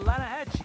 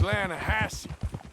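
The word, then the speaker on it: Lannahechee: no no no no no no the the lahache it runs right near here yeah but it's pronounced lanahassee why is everything in English said differently than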